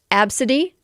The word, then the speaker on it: Abcde: One of them is I've never seen this name, ABCDE, which is pronounced apparently Absidy.